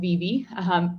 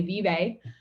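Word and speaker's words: Vevay: So I grew up in southeastern Indiana in a little town called Vevey. It's spelled V-E-V-A-Y. Most people would say Vevey.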